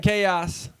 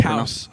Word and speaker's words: Chaos: I used to pronounce it Kaus for the longest time. He said it's chaos, and then I still called him Kaus because I liked how I pronounced it better. And now I just say chaos, and I'm boring. I'm like everyone else. I pronounce his name the correct way.